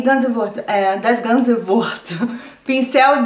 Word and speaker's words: pincel: Pincel. Ja, L am Ende des Wortes spricht man U.